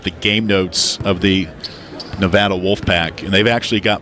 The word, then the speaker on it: Nevada: game notes of the Nevada Wolfpack, and they've actually got pronunciation guide of their school in the pronunciation guide, and it's Nevada, not Nevada.